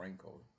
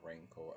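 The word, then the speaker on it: Renko: Not rano as in you know ranking you know you up yourself in Jamaica and yo you rank kind of pronounce the same way but this is a ranko the ranko chart over here.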